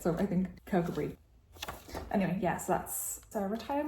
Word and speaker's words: Kirkcudbright: I think it's pronounced Kirkcudbright. It's written Kirkcudbright, but I have been reassured by Scots that is not how you say it, so I think Kirkcudbright.